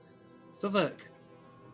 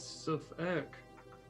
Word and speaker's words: Southwark: Southwark. Yeah, it is Southwark. Mhm. The W is silent.